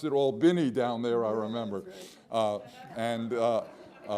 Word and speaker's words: Albany: to Selma when we got to Albany they pronounced it Albany down there I remember and it's in southwest